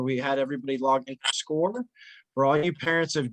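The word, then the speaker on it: Scoir: are getting familiar with score and that's spelled s-c-o-i-r score because that's the platform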